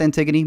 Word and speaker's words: Antigone: to say maybe Antigone, which I kept saying Antigone because I didn't know. My Mexican self had no idea how to say it. I thought it was Antigone. It's pronounced Antigone.